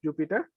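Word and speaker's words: Jupyter: be using will be called the jupiter spelled differently but pronounced as jupiter okay because the jupiter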